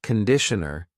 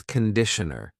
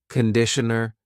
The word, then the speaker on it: conditioner: Be careful of the pronunciation. It's not conditioner. It's conditioner. The first vowel is awa. Conditioner.